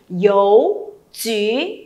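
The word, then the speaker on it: 邮局: Không đọc là chú nhá. Bởi vì sao? Bởi vì đằng sau thanh mẫu chi này thì thực ra nó là u hai chấm đúng không? Mình phải đọc là y.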